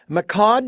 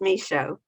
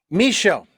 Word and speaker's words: Michaud: and your last name is pronounced uh macad is that correct um nope no please don't ask that for me the day is silent it's me show me show I was so far